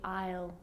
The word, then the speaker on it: aisle: bride walk down the aisle so an s can be a little bit sneaky that one now the